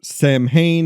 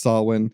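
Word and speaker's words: Samhain: And then there's also a word written in blood on a chalkboard that Lumis mispronounces. It's Sam Hayne is what he says. It's actually pronounced Sawin.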